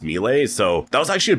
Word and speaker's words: Mile: So, it's pronounced Mle, I believe, but the spelling is M I L E. So, like Mile, but it's pronounced Mle.